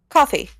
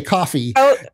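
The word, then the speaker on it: Ko-fi: called Kofi or Kofi do you know how they pronounce it coffee oh they just say coffee there's a coffee cup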